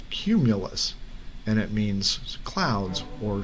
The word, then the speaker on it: cumulus: he saw the inscription it's not it's not camulus he said it's pronounced cumulus and it means clouds or storm clouds phidias